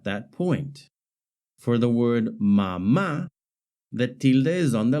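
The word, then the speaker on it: mamá: The word mama, however, also has stress on the last syllable, ma, but it ends in a vowel. According to the Spanish stress rules, if a word ends in a vowel, n or s, the stress should fall on the second to last syllable. Since mama breaks that rule by stressing the last syllable instead, a is added on the last a to show this irregular stress.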